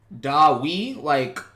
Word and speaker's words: Dae-Wi: Dae-Wi, like pronounced like, not way, but like we.